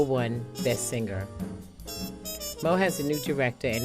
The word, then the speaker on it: Meaux: middle name is unusual it is spelled m-e-a-u-x and it's pronounced mo it is a nod